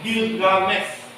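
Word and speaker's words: Gilgamesy: Tulisannya ada E-nya di belakang, tetapi itu tidak dibaca. Bacanya Gilgamesh.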